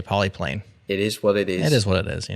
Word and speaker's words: Polypane: right way but like poly is Greek so you could also use the Greek pronunciation so you could say